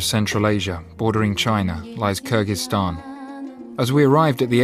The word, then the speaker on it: Kyrgyzstan: Well, you want to say it Kyrgyz way? We want to say it the right way. Kyrgyzstan. Okay, let's say it the Western way. Kyrgyzstan? Kyrgyzstan. Well, we expected, I think, in all honesty, Kyrgyzstan.